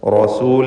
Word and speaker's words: رسول: ലക്കും റസൂൽ. ലക്കും എന്നതിൽ സാക്കിൻ തമീമിനെ ഇദ്ഹാർ ഷഫവി നൽകി മണിക്കാതെ വെളിവാക്കുക. റസൂൽ എന്നതിൽ റാഇന് തഫ്ഖീം കൊടുക്കുക. ലക്കും റസൂലുൻ റാഇ തടിപ്പിച്ച് ഉച്ചരിക്കണം എന്നർത്ഥം. റസൂലുൻ അമീൻ.